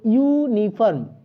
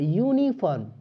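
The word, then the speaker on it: uniform: This is dash ইউনিফর্ম rule, তো ইউনিফর্ম এই উচ্চারণটা দেখো, ইউনিফর্ম, ইউনিফর্ম, তাহলে ইউ এর উচ্চারণটা হচ্ছে ইউ এর মতো, ওয়াই ইউ এর মতো, তাই কনসোনেন্টের মতো উচ্চারণ হচ্ছে, তাই আমরা এ ব্যবহার করব।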